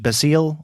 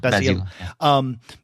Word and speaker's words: Basile: in this story is, would you pronounce his name in French Basile, or is it Basil? Basile. Yeah. Basile.